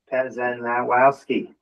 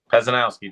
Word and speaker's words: Pezanowski: practice your last name Pazenowski. Pezanowski just like it uh is spelled sounds okay I'll get there.